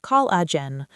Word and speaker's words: collagen: This word is pronounced collagen, with the stress on the first syllable, col.